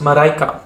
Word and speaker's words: Marijke: In Dutch, this would be pronounced Marijke.